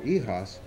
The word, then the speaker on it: YHOS: little bit of class, let's give it a French pronunciation. It's called YHOS, and it's my zine, and it'll be pronounced the way I say. So it's called YHOS.